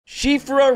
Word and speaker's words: Siofra: shifra river yes it is pronounced right as it is of irish descent is one of the